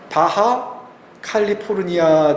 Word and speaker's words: 바하 캘리포니아: 그것 은 미국식 발음 입니다 . 여기 보시면 바하 캘리포니아 라고 써 있죠 ?